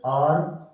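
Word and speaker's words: hour: दूसरा बेटा H silent, H silent आपके कौन कौन से होते हैं, suppose there आर some words like आर, ऑनर, honest, ठीक है, आयर, एच ए आई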